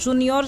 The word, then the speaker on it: juniores: Os juniores não tem acento gráfico, é apenas acento tónico.